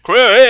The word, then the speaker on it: Craig: That's actually how it's pronounced. Craig!